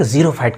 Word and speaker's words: xerophyte: हाँ, एक जीरो फाइट की बात बताते हैं। एक्सेप्शंस हर जगह लगे रहते हैं। जीरो फाइट पता है, जीरो फाइट क्या होता है? ऐसे हम लोग लिखते हैं स्पेलिंग, XEROPHYTE, जीरो फाइट।